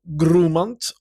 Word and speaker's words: Grumant: Le terme de Grumant ou Grumant, pour respecter la prononciation d'origine, est quasiment inconnu en Occident, mais provient des Pomors.